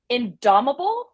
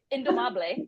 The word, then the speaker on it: indomable: I say it right indomable oh nope did not say it right indomable and what that means